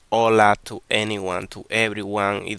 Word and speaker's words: hola: We say hola because in Spanish the H is in silent. It doesn't exist.